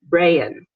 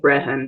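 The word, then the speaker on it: Brehon: You'll see this word, Brian. That's how you say it. It looks like Brehan, doesn't it?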